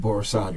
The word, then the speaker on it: Borisade: You pronounce it Akinyemi? AKINYEMI. AKINYEMI. MI. Okay. And Akinyemi? Akinyemi. Akinyemi. And Borisade, right?